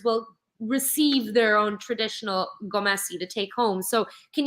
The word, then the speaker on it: Gomesi: butcher this pronunciation, but the traditional, is it Gomesi? Gomesi? Oh, you got Gomesi? it very right, Ali. Gomesi? Is that it? Yes. Yes. Beautiful. So each of our members will receive their own traditional gomesi to take home.